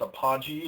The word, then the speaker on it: Apogee: We have our slow pokey, and I think it's apogee is how you pronounce it. It's APOG, and this was an example of a trade we had this week too.